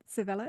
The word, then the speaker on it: Civello: Yeah, pronunciation, it's always a bit of a tricky one because obviously it's pronounced, well, you say it in Italian. Well, Civello.